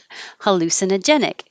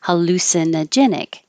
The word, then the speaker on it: hallucinogenic: see we started with hallucinogenic hallu lu is secondary stress so it'll be a little longer hallucinogenic hallucinogenic and you don't have